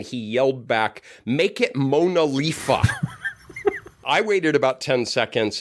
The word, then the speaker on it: MoNoLiFa: I was like, it's kind of a hard to pronounce acronym. And a participant came up, "No, it's great. You can call it MoNoLiFa."